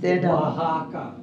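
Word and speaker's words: Oaxaca: do you want to tell them how it's pronounced waka waka waka Mex Meo and that's the hotel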